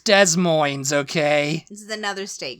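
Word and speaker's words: Des Moines: yosity the next one is des moins It's Des moins okay this is another state capital by the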